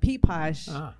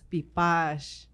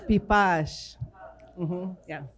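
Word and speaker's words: Piipaash: correct pronunciation is not P Pasha it's beef Bosch it's just so everybody knows in Maricopa is P posh exactly the accent is usually on the the last syllable mm-hmm Thank You linguist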